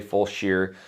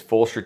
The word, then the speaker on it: Fulshear: It says Fulshear. It's Fulshear. Yeah, don't say Fulshear. Every Texan around here is going to beat you down for it. You got to pronunciate or pronounce everything correctly. It's not the 45. It's just 45. Again, they're pretty proud, but it is Fulshear, Texas.